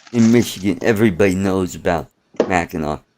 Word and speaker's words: Mackinac: you're from Michigan you should know how to spell it ha and me it's a thing in Michigan everybody knows about Mackinac Mackinaw is an island between the peninsula and said